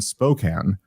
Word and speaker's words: Spokane: only will be in Spokane Spokan Rob that's how it's pronounced I've ref to pronounce it correctly now I've been trying to